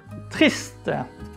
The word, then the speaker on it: triste: And here is the last word, triste. Again, we don't pronounce the letter E at the end.